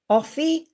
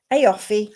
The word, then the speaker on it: Aoife: It's spelt AOIFE. Offie Cronin. Can I talk to you, please? Yeah, you. I don't know how that's spelled, but Offie, I'll give you this card.